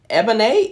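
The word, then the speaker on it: Ébène: pronounce this right ebony ebony e-b-e-n-e and it has one of the axons the accents on the ease let me see if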